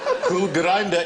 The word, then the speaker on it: Kulgrinda: Cool Grinder is spelled Kulgrinda.